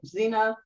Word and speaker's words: Xena: How do you pronounce it? Gina? Sheena? Is it Xena. Xena? Okay, Xena, and a number of other TV series.